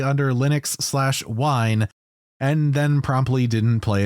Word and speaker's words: Wine: on Linux so be was it Winnie nah it's just pronounced wine oh oh okay yeah